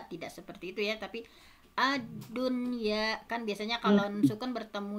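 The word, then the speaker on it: الدنيا: Jadi tidak dibaca aduya, buyanun, siwanun, tiwanun, tetapi dibacanya izhar atau jelas. Adunya, bunyanun, sinwanun, tinwanun.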